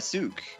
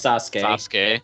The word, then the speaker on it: Sasuke: and hungry and we wanted to find that sook wait a minute it's pronounced sasuke wait it was actually spelled correctly surprisingly hold